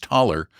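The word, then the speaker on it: Thaler: T h a l e er pronounced taller which of course became americanized into dollar.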